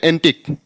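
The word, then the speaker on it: antique: यहां ANTIQE, इसका उच्चारण क हो जाए एंटिक।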